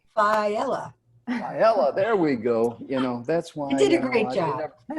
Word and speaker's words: Failla: Did I mispronounce that correctly? Failla. Failla, there we go.